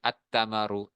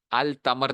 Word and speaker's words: التمر: سا، را وغیرہ، لہذا دیکھو جیسے اتمرو، اتمرو، کھجور آ گئی، اتمرو، التمر نہیں کہنا، اچھا، التمر نہیں کہنا،